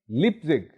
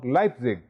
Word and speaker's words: Leipzig: Leipzig or Leipzig. मैंने आपको बताया था कि आप ये दोनों pronunciations इस्तेमाल कर सकते हैं. Both are correct.